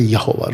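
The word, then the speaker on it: Yahweh: जहोवा witness वाले बुलाते जहोवा, जे हम बुलाते यहोवा। राइट, जो सही उच्चारण है यहोवे, यहोवा।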